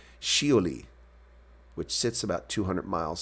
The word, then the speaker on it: Shioli: near the crater sholley a Japanese female first name first pronounced shioli which sits about 200